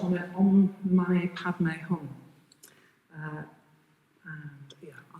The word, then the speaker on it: Om Mani Padme Hum: And the mantra is pronounced on it Om Mani Padme Hum.